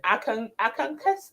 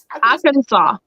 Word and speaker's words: Arkansas: From US, how do you pronounce that name again? Arkansas. Arkansas.